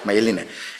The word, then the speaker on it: Maeline: cómo era tu nombre mailine que se pronuncia my no maeline vale mayeline Este un poco para